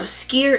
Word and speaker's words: skyr: eight is skier gobbler now skier is spelled skyr and what he does